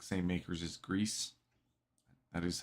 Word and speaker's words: Gris: It's like same makers as Gris.